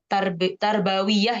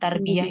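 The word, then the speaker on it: تربوية: ya Center pusat Heeh tarbawiyah ya bacanya Ya bukan tarbiah ya tarbawiyahwiah heeh tapi sebenarnya Kadang orang bilang tarbiah juga ya tapi kalau ada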